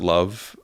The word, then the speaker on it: LOVB: So that, and related to that is, when you call something LOVB and pronounce it love, community is the heart of it.